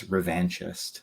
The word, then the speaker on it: revanchist: I pronounce this because is it Revan chess because it's Darth Revan I think that's the correct pronunciation of the Sith Lord uh who later you know becomes or gets redeemed and becomes a Jedi again uh but uh according to John Jackson Miller it's revanchist so that's what I've been